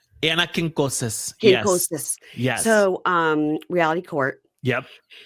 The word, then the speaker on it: Quincoces: Quinones. Anna Quincoces.